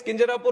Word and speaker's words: Kinjarapu: And my name is Kinjarapu Ram Mohan Naidu.